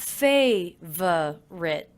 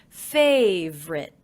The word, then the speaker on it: favorite: favorite I noticed that I'm dropping the middle unstressed syllable in favorite so it's not favor writ but simply favorite favorite favorite things and